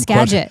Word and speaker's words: Skagit: Now I'm Skagit.